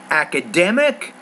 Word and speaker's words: academic: Okay, when you say that word academic, you have academic. Remember, with word stress, you have one of the syllables is the stress syllable. You need to make that clearer, longer, louder, and also higher pitch.